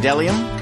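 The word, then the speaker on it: bdellium: a theater right okay and then delium delium it's a it's a gum like tree resin starts with a silent B and then Zar yeah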